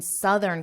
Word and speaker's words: southern: live in southern Canada now notice my pronunciation and listen to the difference I'll say it again I live in southern Canada I live in the south notice how that vowel change this only changes for southern and south there isn't